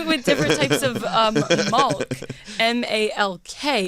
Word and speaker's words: Malk: No, it's Malk. Probably. Sounds like chalk. Yeah, it is. It's spelled the same as chalk.